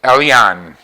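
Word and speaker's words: El Elyon: It's Elion. Elion. And another word, E-R-K-A-M-K-A. And that word I'm having a hard time pronouncing.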